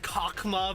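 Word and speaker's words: Chokhmah: I know, I know it's pronounced cockma, but like I I just like chokema.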